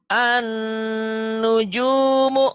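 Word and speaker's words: النجوم: Karena di atas lam itu gak ada tanda bacanya. Di atas lam ini tidak ada tanda apa-apa. Karena tidak ada tanda apa-apa maka jangan dibaca. Jangan dibaca.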